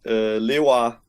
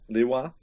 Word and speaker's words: Lewa: This is my Danish way. Lewa. One more time. Lewa.